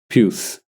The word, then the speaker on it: puce: Puce. Hang on, how do you pronounce it?